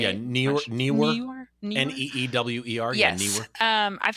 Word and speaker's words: Neewer: Generic, the newer, I think's how you say it. Newer. Neewer.